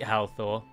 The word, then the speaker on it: Halthor: I can't beat Halthor. So I've been humming and hawing since the last episode about whether or not... No, right, that is right. That is the correct pronunciation. Everyone drops the H's.